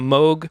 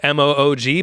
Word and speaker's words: Moog: goes throughout and um that's performed on a Moog which is spelled m o OG but now you know it's pronounced Moog and